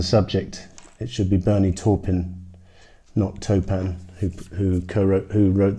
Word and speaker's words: Taupin: sorry about that I looked up the correct pronunciation and while we're talking Wellman's on the subject it should be Bernie Taupin knocked open who who wrote the lyrics for